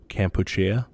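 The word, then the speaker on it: Kampuchea: Cambodia it's also called so I learned that this was like the Khmer pronunciation of it or the native pronunciation of it is campuchia in this time period they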